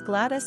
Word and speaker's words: Gladys: Also, since Gladys is closely connected to the Welsh word for country, we also find it rather patriotic.